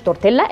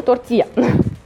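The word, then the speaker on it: tortilla: واو ما اسموش تورتيلا اسمه تورتيا علشان اي حاجه قلقل بتتنطق ايه.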